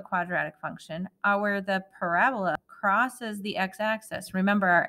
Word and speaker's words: parabola: Parababa. But parabola is the correct way to say that, is the u-shaped graph of a quadratic function.